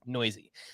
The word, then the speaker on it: Neuse: By the way, if you're trying to figure out how to spell that, that's Neuse, and it's pronounced Noisy.